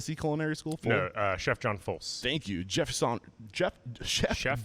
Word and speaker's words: Folse: young age after graduating from the chef John full am I saying it correctly full si culinary school chef John Folse thank you Jefferson chef chef John Folse Culinary